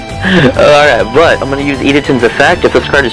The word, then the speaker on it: Idaten: Idaten.